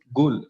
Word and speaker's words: ghoul: It is pronounced as ghoul. GOOL. Correct. It is like the evil spirit who eats dead bodies.